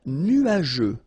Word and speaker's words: nuageux: Un ciel couvert, un ciel nuageux. This can be quite tricky, but take the time to nuageux. Remember, final X here not pronounced.